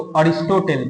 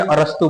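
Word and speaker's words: Aristotle: इसको हिंदी में अरस्तु बोलते हैं और इंग्लिश में अरिस्टोटल पढ़ते हैं हम लोग प्रोनाउंसिएशन। समझ में आएगा?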